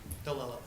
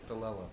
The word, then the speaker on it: DeLeo: What is your pronunciation? Delella. DeLello. Yes. Okay, that wasn't close at all.